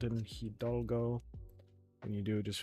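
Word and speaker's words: Hidalgo: You don't really pronounce the h the h sound in hidgo.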